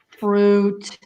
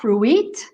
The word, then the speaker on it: fruit: And also we have fruit. It's not fruit, but fruit. Exactly. That UI is ooh, not ooey.